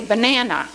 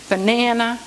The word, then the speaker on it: banana: Like, you know, when I say banana, the accent is on the na, banana, okay?